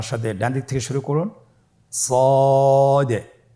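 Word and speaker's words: ص: সদ হরফটি পুর হরফ। মোটা হরফ উচ্চারণ ক্ষেত্রে মোটা করে পড়তে হবে এবং উচ্চারণ করার সময় তিন আলিফ টেনে পড়তে হবে।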